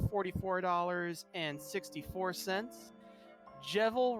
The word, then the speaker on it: Jevil: dollars and 64 cents jebel rhymes with evil evil oh well I've been saying that wrong for a while now I guess or